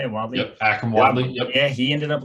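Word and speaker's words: Akrum Wadley: Yep, Akram Wadley.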